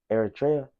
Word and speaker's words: Eritrea: Then there's 5% Cameroon, 3% Ethiopia, Eritrea, that's how you say it, 2% Somalia, and 1% Nilotic people.